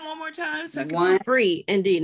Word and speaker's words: Free Indeed: d e e d one dot com okay freed indeed say that one more time second one free indeed not freed no d on that free free